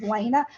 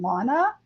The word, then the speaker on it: Lena: minutes left yeah congratulations Lena like I said the reason I call Lena tomato is because I used to pronounce her name Lana and she likes to